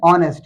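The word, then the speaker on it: honest: कहा था वॉर्डिंग सही इसे एन ऑनेस्ट यहां पर हा साइलेंट है ओ हमारे पास ओ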